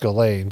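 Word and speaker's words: Ghislaine: You know, it's pronounced Galain, but it looks like Jizzlane.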